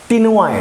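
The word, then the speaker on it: ctenoid: यहां भी स्केल मौजूद हैं, लेकिन वे साइक्लॉइड और टेनॉइड हैं; 'c' का उच्चारण नहीं होता है। यह क्टेनोइड है।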